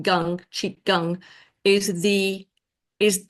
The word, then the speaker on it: gong: force Essence Gung and it's spelled gong but it's pronounced Gung cheek Gung is the